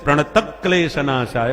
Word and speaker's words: प्रणत क्लेश नाशाय: तो क्योंकि आधे क्लेश शब्द है इसलिए प्रणत क्लेश नाशाय बोला जाता है। प्रणत क्लेश विसर्ग नहीं।